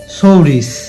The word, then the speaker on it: সৌরিস: তাহলে first step আমরা pronunciation বা উচ্চারণ করব সৌরিস। এখানেও দেখতে পাচ্ছি যে শেষের সউন্ড বা তালক বসটা পুরোপুরি উচ্চারিত হয়নি। অর্থাৎ সৌরিস। এমনি বলছি না সৌরিস অর্থাৎ স সাউন্ড শুধু উচ্চারিত হয়েছে এজন্য শেষে আমরা সসন্ত